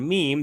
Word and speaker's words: meme: So, he just details how he came up with the word meme that he was trying to make rhyme with jeans and cream.